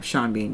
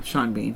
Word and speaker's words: Sean Bean: Sean Bean, yeah. Sean Bean. He's always going to die. He spells his name S-E-A-N, just like his last name is B-A-N, and then pronounces them differently.